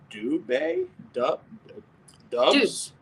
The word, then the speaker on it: Doubs: As far as, Romeo Dubs? Dubs, yes. It's Dubs, but he goes by Dubs. Doubs. I can spell it.